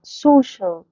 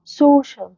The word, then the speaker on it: social: في ناس كتير متعودة عليها اللي هي social، هي غلط. social، social.